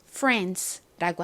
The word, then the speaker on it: France: 한국식으로 프랑스라고 하는 그 나라의 이름을 미국식 영어로는 이렇게 France라고 합니다. 참고로 영국식 영어로는 소리가 나지 않고 소리가 나서 France 이렇게 발음을 해요.